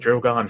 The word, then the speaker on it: Drogon: Well, it's not Drogan. I didn't say Drogan. Drogon. Drogon. They've pronounced it Drogon for almost 10 years.